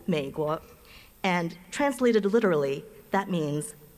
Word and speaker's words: Měiguó: In the Mandarin Chinese language, the United States of America is called Meiguo, just two syllables, Meiguo, and translated literally, that means the beautiful country.